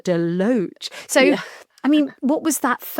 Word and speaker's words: DeLoach: to harvest in the cellar at, do you pronounce it DeLoach? DeLoach. DeLoach.